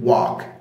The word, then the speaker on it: walk: ولاحظ ان ال اللي في كلمه walk silent، مش بتتنطق، ما بقولش walk لا، لكن بقول walk.